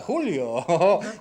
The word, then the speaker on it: Julio: dyżurny satyryk kraju A jak się pisze Julio to się czyta hulio i to jest bardzo